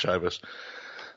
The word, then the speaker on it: Chivas: 100%, it's pronounced Chivas.